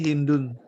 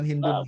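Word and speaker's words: هند: Ini Hindun. Ya ada sahabat wanita namanya ini satu-satunya ini ya bisa tanwin. Hindun. Dibaca orang Arab itu bacanya cuma Hind gitu aja, Hind.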